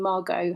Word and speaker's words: Margot: your name and my middle name Margot has a silent T on the end.